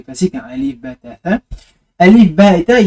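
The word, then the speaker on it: ث: J'avais dit que pour la prononcer de manière isolée, il fallait en fait mettre la langue entre les deux dents et la sortir légèrement. Tha, tha, tha.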